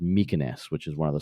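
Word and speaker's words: Mykines: and fly out to what I think is pronounced mykoness which is one of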